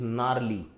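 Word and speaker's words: gnarly: देखो यहाँ पे जी का प्रोनाउंसिएशन नहीं होता, प्रोनाउंसिएशन इज नार्ली, है ना। अगर आप इंग्लिश एक्सेंट में बोलेंगे तो आर का भी प्रोनाउंसिएशन नहीं होता, नाली होता है सिर्फ। हमारे यहाँ नाली का मतलब ही अलग होता है, तो इट is better that you से नार्ली, ठीक है। तो जी इज साइलेंट, नार्ली का प्रोनाउंसिएशन, ठीक।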